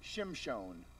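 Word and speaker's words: שמשון: Samson in Hebrew is Shimshon. Okay? Shimshon is spelled Shin, Mem, Shin, Vav, Nun.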